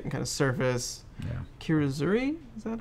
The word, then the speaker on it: kirazuri: it's very delicate and kind of surface yeah kirazuri is that how you pronounce that yeah it's kind of like that